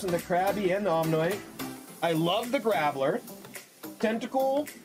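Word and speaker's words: Omanyte: Okay, we get an Omnite. I was gonna say Omnimite, but there's not that many syllables in there.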